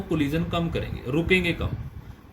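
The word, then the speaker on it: ρ: उस कांस्टेंट को प्रोनाउंस करते हैं रो, L/A.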